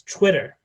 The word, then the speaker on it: Twitter: For example, a word like Twitter was being pronounced as Chwitter.